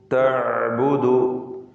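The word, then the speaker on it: تَعْبُدُ: ലിമ തഅബുദു, തഅബുദു ഐൻ തൊണ്ടയുടെ മധ്യത്തിൽ നിന്നാണ് വരുന്നത്. തവസ്സുത്ത് അതിൻ്റെ സിഫത്താണ്. വ്യക്തമായി ഐൻ ഉച്ചരിക്കുക. തഅബുദു മാ ലാ യസ്മഉ, മാ ലാ യസ്മഉ വലാ യുബ്സിറു.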